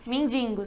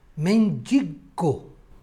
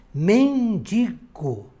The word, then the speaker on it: mendigo: do isso ocupação bem mendingo certo errado mendigo Oi falo da pronúncia a pronúncia correta seria mendigo mas não acho esse